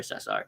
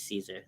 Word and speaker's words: Cesar: too but i prefer cesar cause my mom actually hates caesar like she she's always like no it's cesar but like my dad is caesar cesar doesn't matter spanish pronunciation yeah i figured it